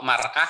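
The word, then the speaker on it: مرأة: Kemudian mir'ah ya bacanya, mir'atun sahih ya. Kalau mar'ah itu perempuan, woman. Mar'ah, mir'ah. Jadi hanya bunyinya saja sudah bisa beda makna ya.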